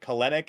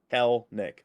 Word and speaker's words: Kelenic: was like I get I get colonic and I get kelenic a lot it's hell Nick the second e is silent there you go I